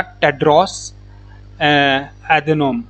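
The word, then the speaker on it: Tedros Adhanom: उसका नाम है हमारा टेड्रोस एधेनॉम। ठीक है, टेड्रोस एधेनॉम। तो उसकी स्पेलिंग है TEDROS, टेड्रोस, and then ADHANOM।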